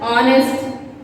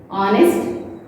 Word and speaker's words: honest: For words like honor, honest, and our, where H is silent.